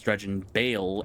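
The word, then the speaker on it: Dredgen Bael: Like, the name is familiar cuz it's it rhymes with Dreon Veil as in V as in Victor, but his name is Dreon Bale as B as in Bravo.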